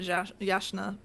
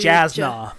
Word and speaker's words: Jasna: Oh yeah, for several months, like on the trip to finally get to Yasna. Right. I'm totally saying her name wrong now. Yasna. Yasna. The J throws me. I want to do Jasna.